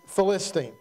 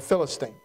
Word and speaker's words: Philistine: kills this uh Champion Philistine or Philistine I might pronounce that differently throughout the course of the message bear with me both pronunciations are accurate but I need to